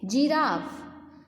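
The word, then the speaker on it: giraffe: G फॉर, जैसे हम बोलते हैं जिराफ, तो ज का साउंड आएगा क्योंकि जिराफ की स्पेलिंग G से शुरू हो रही है, जिराफ।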